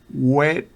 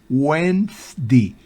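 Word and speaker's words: Wednesday: En las siguientes palabras ni siquiera sé cómo pronunciarla web next di no no no no es web Oiga bien whens Wendy Wendy Wendy Qué significa Usted bien sabe no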